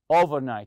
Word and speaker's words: overnight: it comes the overnight you say overnight stress the first part the over part and the conversation that